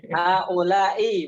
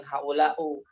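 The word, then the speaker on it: هؤلاء: Haula'i bacanya, bukan haula'u.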